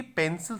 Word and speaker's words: pencil: इसका सही है पेंसल। क्या बोलेंगे इसको? पेंसल बोलेंगे। पे, एक ही मात्रा है ये। पे न श ए और ल, पेंसल बोलेंगे इसको।